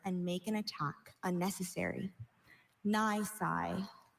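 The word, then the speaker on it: nisi: Nice. Nice.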